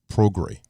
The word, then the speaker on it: Prograis: Regis Prograis. Hey. I said it right the first time, Prograis.